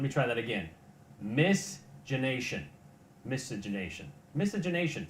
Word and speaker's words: miscegenation: the word to the word that is misces misgeneration let me try that again misgenation miscegenation miscegenation say with me miscegenation something all right well he eventually got around to pronouncing the word misinternation uh the story basically was the recognition of